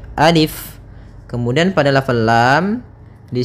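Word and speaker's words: ألف: Nah, maka ketika kita membacanya, untuk alif ini la yumaddu, tidak dimatkan, tidak dipanjangkan, sehingga jangan dibaca alif, tapi hanya pendek saja alif.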